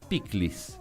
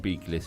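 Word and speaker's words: pikliz: Y se sirve con piclis. Piclis es una ensalada de repollo, no son picles, se escribe con K, se escribe con Z final, y es una ensalada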